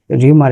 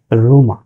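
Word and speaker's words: rumour: ভুল হয়েছে সেটি হচ্ছে রুমা হিউমারের উচ্চারণ ঠিক আছে হিউমার কিন্তু রিউমারের উচ্চারণ রিউমার না রিউমারের উচ্চারণ হচ্ছে রুমা সো রুমা স্ক্যানা রুমা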